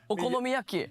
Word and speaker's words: okonomiyaki: Did I pronounce it correctly? Okonomiyaki.